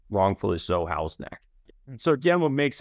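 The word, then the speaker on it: Houghs Neck: neck right here and that's how's neck not Hugh neck it is pronounced wrongfully so house neck so again what makes house neck so great like so much of Quincy you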